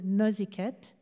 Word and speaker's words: Noisecat: Et cette grand-mère s'appelait Alice Noisecat, ou Nuiskit, comme on le prononce chez nous.